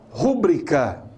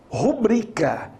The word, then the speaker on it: rubrica: Portanto, é rubrica e não rúbrica. Tá? A pronúncia correta é rubrica. A sílaba mais forte é o bri e não o ru.